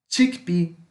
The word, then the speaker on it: chickpea: Como é semelhante ao italiano algumas pronúncias, o CH vai. Aqui neste caso, vamos pronunciar como se fosse um X junto com T. Então é T com X junto. Chickpea, chickpea, chickpea, tá?